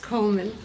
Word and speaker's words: Goldman: Coleman. Goldman. I thought the D was silent. It is pronounced Coleman, isn't it? We've had some confusion. Oh, yes, Coleman. The D is silent in America.